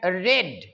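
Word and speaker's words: read: yesterday গতকাল they had রেড তারা পড়েছিল উচ্চারণটা দেখো এখানে আরইডি রিড হয় উচ্চারণ কিন্তু এখানে দেখো রিড যখন ভার্বের দ্বিতীয় রূপ তৃতীয় রূপ হয় তখন বানান একই থাকে কিন্তু উচ্চারণটা হয় রেড রিড রেড রেড রেড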